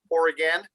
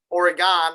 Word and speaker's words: Oregon: I know I got some in Multnomah Falls in Oregon. See, Oregon, because there's an O in it, and it's not an I in it.